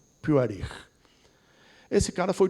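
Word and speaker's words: Puharich: Para alguns, Puarites, mas está no mesmo. A pronúncia mesmo é Puarich.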